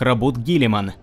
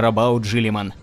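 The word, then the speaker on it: Roboute Guilliman: Заметим, что мы знаем, что в оригинале его имя произносится как Робут Гиллиман. Однако в русских изданиях книг и кодексов, которые были одобрены Games Workshop, примарха называют именно Робаут Жиллиман.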